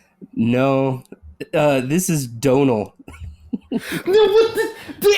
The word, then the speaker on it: Domhnall: For whatever reason, the M and H is silent now.